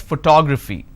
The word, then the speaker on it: photography: fee four syllables but in this case i stress on the second syllable that is what word stress is all about so when we talk about pronunciation not only the pronunciation of each syllable or the entire word but also the word stress come into the picture so here i pronounce this as photograph here i pronounce this as photography clear what's the next